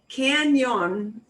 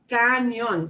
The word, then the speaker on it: cañón: So words like canyon, because you know canyon and your brain so desperately wants to say canyon, it comes out canyon sometimes. So watch yourself. Canyon is muy gringo. Cañón.